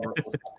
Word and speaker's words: Merkel: It is pronounced Merkel. Yeah, it's miracle without the A.